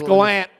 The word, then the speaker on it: Gallant: the impression that Gerard Gallant was a little bit ahead no it's Galant he wants to pronounce Gallant whatever fired is what